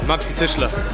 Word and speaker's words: Maxi Tischler: It's MAXITISCHLER_23. So how do you say that? Maxi Tischler.